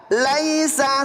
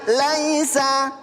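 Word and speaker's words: ليس: Laisa. 1 2 3. Laisa lagi. Laisa. Laisa. Laisa. Laisa ini jangan laisa ya. Jangan dibaca imalah ya. Jangan dibaca imalah. Di sini dibacanya mad ee lin lentur.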